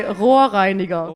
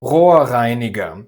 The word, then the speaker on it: Rohrreiniger: in And now say Rohrreiniger. Rohrreiniger. The two r's at the beginning of each syllable are pronounced, the two r's at the end aren't.